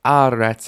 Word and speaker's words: aretz: You might have noticed aretz has initial stress.